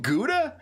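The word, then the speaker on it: Gouda: are you you saying guda and he's like it's pronounced how I'm like there's about 300 million Americans who disagree with you so each time okay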